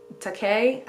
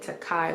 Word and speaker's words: Takei: book haul i said takai which is why i had heard it pronounced as a butt in a video and then um in the book itself actually he says that it rhymes with okay so i know literally